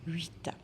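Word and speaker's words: huit: Alors, 8, donc le H, c'est une lettre muette, ou bien il est muet, donc je ne le prononce pas généralement. 8.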